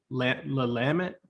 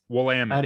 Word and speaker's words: Willamette: Willamette? Willamette, How yeah. do you say that river in there? Willamette. Yeah. Some people say Willamette or Oh, Willamette it's a or what? W. Yeah, Willamette.